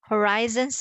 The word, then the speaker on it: horizons: of course horizontal yes the pronunciation of these two are different Horizons and horizontal right okay be careful